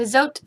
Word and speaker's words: Zote: But this bar of soap, the Zote soap, it rhymes. The Zote soap is actually really, really good.